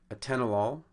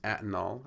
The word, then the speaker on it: atenolol: going to be patterns a tenolol becomes antinol and the accent has changed from the second syllable to the first you also change from